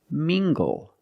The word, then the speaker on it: mingle: look at this word mingle using the nasal sound and the hard G together mingle mingle mingle is a